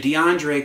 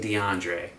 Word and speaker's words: DeAndre: to envision the AAC all chanting DeAndre see it doesn't work three syllables it's going to get